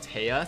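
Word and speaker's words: Teija: But her name actually is pronounced or spelled Taya. So T-E-I-J-A. It's a Dutch spelling because J in Dutch is, Yeah, there you go.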